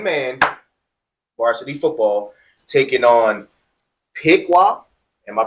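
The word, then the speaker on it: Pequea: So, next we got Delo Christian, first year varsity football, 11 man varsity football taking on Pekqua. Am I pronouncing that right? PUA.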